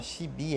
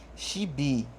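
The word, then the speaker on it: ṣíbí: significa chave xibi ó shibi é fácil de falar sorrindo tá é quase que obriga a fazer isso shibi shibi significa colher digi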